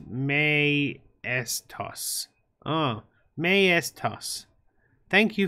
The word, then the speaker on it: Mtois: Mtois is pronounced May toss.